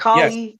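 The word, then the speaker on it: Καλή: Or in Hygromantia, you'll find it as like it's written as Kalle, pronounced Oh, yes, Kali, yes.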